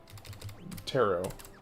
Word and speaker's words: tarot: Death turret. Tarot, I think, is technically how that's pronounced.